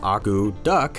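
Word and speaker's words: akutaq: men arrived in alaska the word aguduc pronounced aku duck actually means to stir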